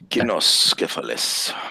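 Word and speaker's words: Cynoscephalae: Kinoscephalus. Very good. did I pronounce that right?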